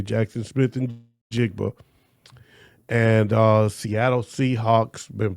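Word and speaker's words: Jaxon Smith-Njigba: when presenting the award, and he called him Jackson Smith nigabboa and he said it more than once and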